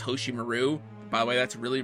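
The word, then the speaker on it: Hoshimaru: to the dub like pronouncing hosim Maru as hosim Maru by the way that's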